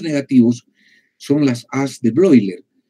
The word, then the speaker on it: Bleuler: son las as de broiler broilers se escribe bleuler celebro y leer porque el alemán y son cuatro as